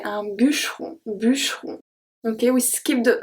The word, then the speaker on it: bûcheron: For this one, be careful that I don't say un bûcheron. I don't pronounce the E. I say un bûcheron.